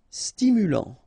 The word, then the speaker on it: stimulant: Stimulant, final T not pronounced, stimulant, stimulant.